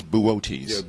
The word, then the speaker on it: Boötes: And the constellation it's found in is Boötes.